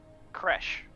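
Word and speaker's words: Khresh: like a p CR K he's G to spell it for you k h r e s h CR crash that makes sense uh crash um it's probably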